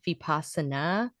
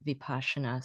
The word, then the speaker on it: Vipassana: I heard some people say Vipassana, but I've heard more people say Vipassana, so I'm going with that.